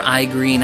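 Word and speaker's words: Igrene: We have, oh, Igreen! I love Igreen, or Igreen, however you want to say her name. It's like Irene with a G thrown in.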